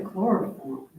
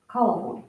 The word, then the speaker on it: coliform: I think it's a chloroform, Yes, coliform. coliform, not chloroform, Oh, I was coliform.